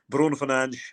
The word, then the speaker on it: Bruno Fernandes: game will know that I try to be as true as possible to authentic pronunciations. And so once again, it will be Bruno Fernandes and various other pronunciations that are Portuguese pronunciations.